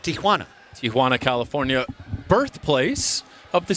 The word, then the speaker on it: Tijuana: pardon me Selvin PS PSA to all you folks out there it's Tana Tiana yeah Tiana Tiana is what many Americans say it is not technically correct that'd be an Americanized version of the great city of Tijuana Tijuana California birthplace of